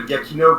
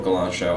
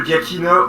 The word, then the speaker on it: Giacchino: Don Davis did Jurassic Park 3, and Michael Galancho. I did not pronounce his name right, but that's how I say it. He did Jurassic World. All 3 Jurassic World. Yeah. And fun fact, Michael Giacchino already worked on Jurassic